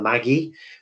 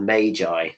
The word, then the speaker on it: magi: this in the pronunciation it's almost like you should call them the maggie but it's not the maggie it's the magi that's how you pronounce